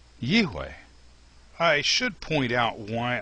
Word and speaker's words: YIHWEH: So, in my opinion, the pronunciation of the name Yod He Vav He is YIHWEH.